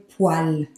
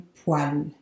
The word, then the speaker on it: poêle: And finally here, a word that can seem a little scary to pronounce, but it's actually very easy. I put in bracket what it sounds like. Une poêle. Une poêle.